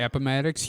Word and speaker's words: Appomattox: And did I get the pronunciation of that one right? Appomattox, you did, actually.